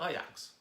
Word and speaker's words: Ajax: Ajax, spelt Ajax, but in Holland, in Amsterdam, where this soccer team is from, they pronounce it Ajax, I think.